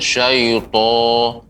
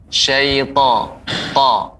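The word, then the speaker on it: الشيطان: Koreksiannya syaita ya, dia pengucapan suaranya tidak dengan memunyungkan bibir. Syaito, bukan syaito tapi syaita.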